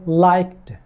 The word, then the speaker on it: liked: یہ ہے لائکڈ. لائک کے آخر میں جو ایڈی کا ساؤنڈ آیا ہے یہاں پر ٹی کا آواز دیتا ہے.